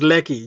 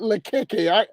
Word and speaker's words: Lekki: There's a popular area in Lagos called Lekki. Lakeke. That area, what? I call it Lakeke. I know you're talking about. No, not Makeke. He's Lekki, No, just no, Lekki.